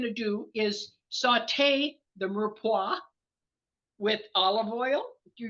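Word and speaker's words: mirepoix: o iix it's a strange spelling but the pronunciation is Mera so anyway that's a little bit of tidbit of History here so um the first thing we're going to do is sauté the Mera with olive oil if you're using olive or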